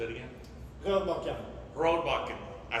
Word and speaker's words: Rørbakken: Rørbakken.